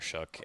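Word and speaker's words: Shough: And I I also just can't believe his name is pronounced that way. I feel like someone messed up along the line. It it it shouldn't be Shook.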